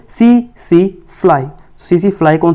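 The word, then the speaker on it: tsetse: T silent होता है, तो आप इसको T को साइलेंट रखोगे, सो इसको बोलोगे, इसको TC नहीं बोलना है, इट इज़ CC फ्लाई।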